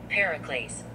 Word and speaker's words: Pericles: So for instance, this is pronounced by dictionary. Pericles. I said it right the first time.